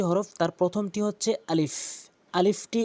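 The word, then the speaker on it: ألف: আলিফটি উচ্চারণ করার সময় খেয়াল রাখবেন উপরের দাঁতগুলো নিচের ঠোঁটে রেখে এভাবে আলিফ আলিফ হরফটি উচ্চারণ করবেন।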